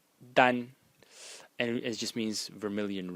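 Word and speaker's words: 丹: this to today oh sorry like this it's pronounced Dan and it just means Vermilion red and uh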